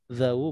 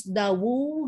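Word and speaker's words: ذوو: Nah, ini jadi bacanya juga harus dawu gitu ya Ustaz? Zawu ya, zawu khuluqin. Nggak bisa, kalau dawu nggak bisa ditulis pakai tasjid ya Ustaz. Dawu bukan zawu ya, tapi zawu. Dawu.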